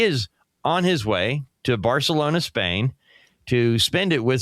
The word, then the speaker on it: Barcelona: spring break, he is on his way to Barcelona, Spain, to spend it with some friends who are studying overseas for a semester. That's how Jimmy Grace ends up in Barcelona. And yes, I did say Barcelona, cuz that's how you say it.